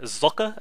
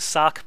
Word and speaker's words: Socke: it is actually pronounced if you're German like he is that is how you should pronounce it but I'm probably just going to stick to Sock because I'm American and